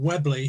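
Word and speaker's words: Weobley: and I live in a village called webble which is spelled we o b l y weas Lee which is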